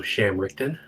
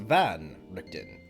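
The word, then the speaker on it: Van Richten: Hello, Sham Richton. Damn. Oh, you I see you have mispronounced Van Richton.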